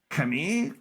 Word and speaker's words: Camille: Kami, welcome. Go ahead and introduce yourself. Thank you. Um, thanks for saying my name correctly, even though it's spelled Camille.